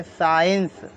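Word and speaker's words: science: आई ई एन सी ई इसको हम पढ़ेंगे साइंस आई बराब आई तो साइंस सी बोला ही नहीं हमने यू साइलेंट पढ़ते हैं हम यू साइलेंट पढ़ेंगे जी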